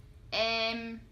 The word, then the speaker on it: em: example, Cây and Mây Next, Em Em This one sounds similar to 'Damn' in English For example Kem and